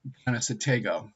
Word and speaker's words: Conestoga: It's actually pronounced Conestoga.